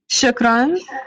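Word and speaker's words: شكرا: Shukran.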